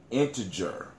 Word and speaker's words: integer: of the counting if the pronunciation with a soft G integer c-more a whole number